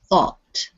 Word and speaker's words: thought: think think and then thought yes in this case the gh is just you don't hear it it's it's just like